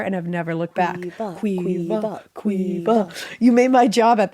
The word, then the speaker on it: Caoimhe: The way that's spelled, it's Caoimhe, but pronounced Quiva.